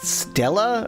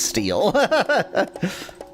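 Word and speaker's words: stele: I think that word is pronounced Stella or something like that. It's it's st e and I think it's sometimes spelled st with a hat l e. And I'm fairly certain it's not pronounced steel.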